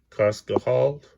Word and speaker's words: Cascajal: And we got Cerro de Medellin, okay, mountains or little hills or whatever, and then Cerro, let's see, it's pronounced Cascajal, where the French are.